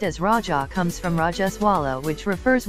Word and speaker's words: Raja: The term Raja, pronounced as Raja, comes from Rajaswala, which refers womanhood.